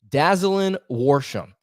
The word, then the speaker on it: Dazalin Worsham: roster already worsham as i believe that's how i believe you pronounce his name dazzling warsham he is a transfer